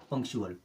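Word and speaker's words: punctual: हमने क्या सीखा कि अगर टी के बाद में यू ए एल आता है तो टी का उच्चारण करेंगे चा की तरह और यू ए एल के साथ में मिलकर के टी क्या बनाएगा चुअल चलिए अब देख लेते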